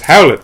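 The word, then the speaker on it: Hallett: JJ ll eat tt which is pronounced the same way as Howlett which was the last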